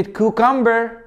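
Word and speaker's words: cucumber: البي البي طبعا في كلمات شاذه زي كلمه كيوكمبر هتقول الام مع البي في كلمات شذه هتبقى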